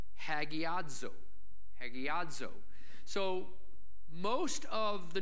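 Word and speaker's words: ἁγιάζω: Sanctify, in the Greek, is pronounced hagiadzo.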